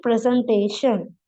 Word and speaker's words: presentation: The noun presentation has 4 syllables. The stress is not on end, but on the syllable before the final SHN sound. Sound. Present, presentation.